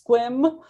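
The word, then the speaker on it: Sequim: My pronunciations are, I just learned that near Port Angeles it's Squim, which I've been mispronouncing my entire life.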